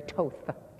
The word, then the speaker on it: Toth: Remember, it rhymes with both, not slot. Indeed. Toth.